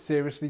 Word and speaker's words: seriously: And pronunciation-wise, we have this ser, so seriously, seriously, serious. This is our schwa, and we have the li on the end.